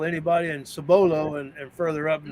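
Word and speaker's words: Cibolo: lived in cbolo Texas I actually pronounce it sabolo sabolo when I lived in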